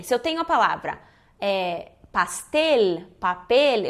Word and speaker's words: pastel: eu tenho a palavra pastel para a pele eu não posso fazer no final da palavra esse som que a gente faz um som de u Castell Coronel Manoel não é Manuela né pastel tem que pronunciar bsl